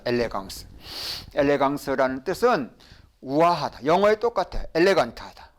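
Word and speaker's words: élégance: 아 n an 그렇죠 그 다음에 끝에 나오는 발음 없어요 이거는 쇠 그러면 같이 발음해 봐요 여기까지 읽으면은 엘레 그 다음에 이거는 다 같이 발음해보세요 엘레강스 이게 발음이에요 엘레강스 엘레강스라는 뜻은 우아하다 영어의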